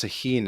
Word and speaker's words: Tajín: but there's something called Tajín in Mexico. Tajín. Do you know what this Hmm. is? It's I like don't. How do you it's spell it? like it's like Tahin.